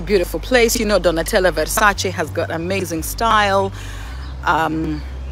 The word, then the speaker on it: Versace: correcting people because people could say it's versace i'm like okay when i do go to the palazzo versace i will make sure i say it right so if you're italian you know the pronunciation you need to the pronunciation you need to get it right it is a versace okay let's keep it